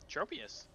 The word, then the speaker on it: Tropius: wants a Pokemon to have in their collection Tropius that's how you say it everyone just hates